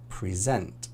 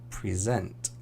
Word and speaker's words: present: So most two-syllable verbs have the stress on the last syllable. Present, export, decide, begin. Present, export, decide, begin.